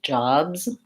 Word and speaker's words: jobs: So making sure that you're open enough on that and that the S in that word says Z, jobs.